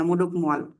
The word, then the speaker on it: মোডক মোয়াল: কি, এটার নাম কি, মোজোক মোয়াল। মানে ওই যে উম, এটা ওই ওদের ভাষাতে এটা উচ্চারণ করে ওরা একটু কেমন করে যেন, মোডক মোয়াল পর্বত।